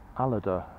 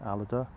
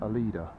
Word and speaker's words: Aleda: J and H Aerospace a loader I think that's how he pronounces it a loader I've been pronouncing that a leader that this is the